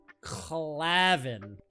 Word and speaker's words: Clavin: Claavin. Clavin. That's correct. Yes. Wow, that's a crazy name. It's like Kevin, but hard to pronounce.